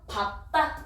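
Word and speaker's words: 밟다: 그래서 밥다 이렇게 발음하고요. 밝다 아니고요.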